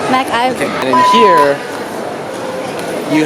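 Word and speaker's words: McIver: MacIver. MacGyver. Let's start over. MacIver.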